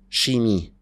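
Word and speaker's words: chimie: الانجليز غلطانين يا سيدي نروح للفرنساوي ما بيسموها كيمستري بيسموها شيمي ده غريب جدا يعني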